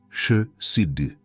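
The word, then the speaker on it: חסד: Prononce-la avec moi. Chesed.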